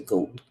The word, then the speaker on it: GOAT: Who would you say is the GOAT?